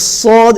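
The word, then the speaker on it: ص: the only difference is sword is full mouth and the scene is empty mouth sword and seen are very similar letters similar in salah some people pronounce instead of the sword if you don't pronounce it full mouth it will come out as a scene which is wrong that okay is sword needs to come out because it's more full mouth and the final this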